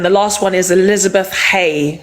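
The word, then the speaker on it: Haigh: And then the last one is Elizabeth Hay. Hay is spelled H H-A-I-G-H.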